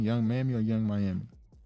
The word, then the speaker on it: Young Miami: Young Mammy or Young Miami? Young Miami.